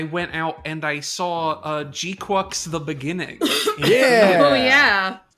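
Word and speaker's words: GQuuuuuuX: It's also gives it funny synergy with G-Quux, which is how you pronounce it, apparently. G-Quux. G-Quux. Everybody was saying G-Quarks or obviously G-Cucks, but I've seen people assume G-Quarks because like in Japanese it would be G-Quaxu or whatever.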